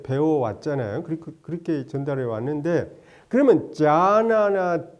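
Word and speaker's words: jhāna: 그래서 일반적으로 젠 부디즘 그러면 건데 그 일본식 발음이고, 근데 선을 이제 그 원음은 자나예요. JHA 장음에다가 NA 자나인데 이게 빨리어입니다.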